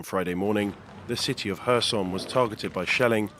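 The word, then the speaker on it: Kherson: morning the city of hersom was targeted by shelling I always mispronounced it Harrison with at least three civilians killed I used to call it Kirsten is this new news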